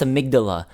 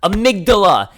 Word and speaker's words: amygdala: all insane because they can't even pronounce amygdala properly it's pronounced amygdala amygdala it's the tonsil almond